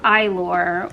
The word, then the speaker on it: Eylure: I always did really well with Eylure, which is, I don't know if you can see that, that's how you pronounce that.